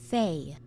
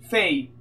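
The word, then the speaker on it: Fae: Fay. Fei, va bene. Fay. Fei. Ok, fa rima con Bey. Va bene, quindi è Fei.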